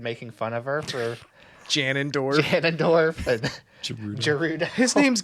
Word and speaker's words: Ganondorf: They started making fun of her for Ganondorf. Ganondorf and Gerudo. His name's Ganondorf? I pronounce it Janendorf.